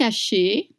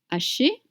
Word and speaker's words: haché: fraîche 10,50 € steak haché sauce poivre vert Stack aché sauce poivre vert stack haché sauce poivre vert. You don't pronounce the h in French mute.